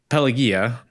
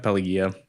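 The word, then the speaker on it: Pelagia: Penelopey Cruz's character uh Pelia, Pelagaya. Pelia, I think it's close, I think. Yeah, I think it's a soft G like supposedly like Pelia or something in Greek.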